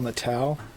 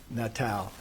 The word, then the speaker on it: Natale: You said that Natal? Natale, I believe, is the way they pronounce it. Your Okay. Honors. Two syllables, not three? Natale. Natal. Correct.